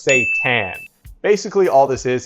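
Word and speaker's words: seitan: Satan actually isn't Satan. It's pronounced Satan.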